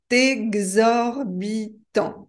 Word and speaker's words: exorbitant: voyez l'orthographe peu compliqué mais écoutez ma prononciation c'est exorbitant ou c'est exorbitant la liaison ici n'est pas obligatoire c'est exorbitant quel est